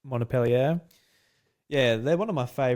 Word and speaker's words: Montpellier: And I'm kind of sad in some ways that the Ubisoft what's the how do you pronounce their team's name again? Montpellier. Montpellier.